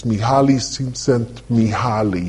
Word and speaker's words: Mihaly Csikszentmihalyi: from a psychological perspective, and I can never pronounce his name, but it's Mihaly Csikszentmihalyi.